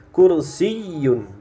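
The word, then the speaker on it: كُرْسِيٌّ: berikutnya gampang ya H kursiun kursiun di sini Sebenarnya ada tasdidang ya yanya ini kursiyun jadi cara bacanya seperti itu ya diharapkan bisa diulang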